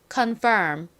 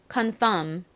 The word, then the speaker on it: confirm: 연습해 볼게요 먼저 정확한 발음으로 해보고 그다음에 간소화된 발음으로 해보도록 하겠습니다 따라해 볼까요 confirm 좋습니다 이제 그냥 미음 받침으로 간단히 발음해 볼게요 confirm 오케이 자 따라서 철자도 써 보도록 하겠습니다 먼저